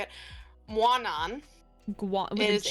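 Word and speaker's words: Mawnan: Guanan.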